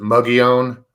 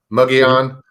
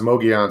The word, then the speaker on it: Mogollon: said a lot of locals i think up on the rim pronounce it muggy own muggy on um but i've heard it pronounced moguian so many times it's the double l's that are like the spanish so that's it kind of